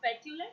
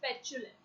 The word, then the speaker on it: petulant: The pronunciation is not petulant, it's petulant.